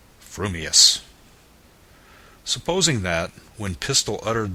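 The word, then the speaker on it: frumious: your mouth and speak if your thoughts incline ever so little towards fuming then you will say fuming Furious if they turn by even a hair's breath towards Furious you will say Furious fuming but if you have the rarest of gifts a perfectly balanced mind you will say fumus supposing that when pistol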